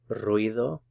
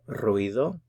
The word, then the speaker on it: ruido: ¿Oyes un ruido? You have to work a little bit on rolling your R's here.